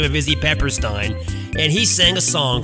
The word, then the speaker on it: Peppersteen: we mispronounced his name apparently his name is izzy pepperstein not pepper stein the letter states their